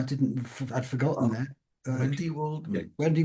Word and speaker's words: Waldman: Wendy Waldman. Wendy Waldman.